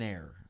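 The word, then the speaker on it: Ayer: we all live in air like yes there we go where where are you staying cloud that's the name of the town but it's spelled with a y is a-y-e-r what's near it massachusetts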